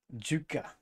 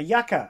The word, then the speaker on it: yucca: Juka. A yuka? A yucca. Oh, a yucca. It's, why is it spelled with a J this time? It's a Y.